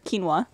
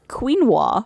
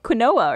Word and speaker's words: quinoa: you were younger you used to think it was pronounced quoa or something something quinoa or something adorable ask